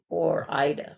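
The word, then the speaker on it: Ore-Ida: Or Ida. Or Ida. Is that how it's pronounced? Yes.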